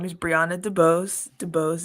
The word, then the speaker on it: DuBose: name is brianna debose dubose is how you pronounce it everyone always gets caught up on it and they're like shouldn't i say that you know it's been my entire life but um it's debose so um what i